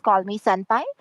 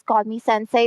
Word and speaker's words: Call Me Senpai: We know that is call me senpai, but Jenny was calling call me senpai as call me sensei because he was acting like the sensei.